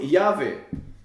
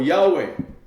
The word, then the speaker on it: Yahweh: Que muitos pronunciam Yahvé. Ou Yahweh.